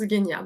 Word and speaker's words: Genia: Alors Guénia, je vous l'épelle parce que ça se prononce Guénia, mais en français, ça s'écrit Genia et Créa, tout attaché.